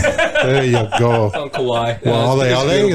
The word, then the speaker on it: Waialeale: Waialeale, that's how you say it. Oh, Mount Waialeale. I think that's correct.